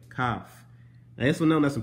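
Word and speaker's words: kaph: bro cough c-a-p-h yeah it's a c but it's pronounced the exact same way cough this one known as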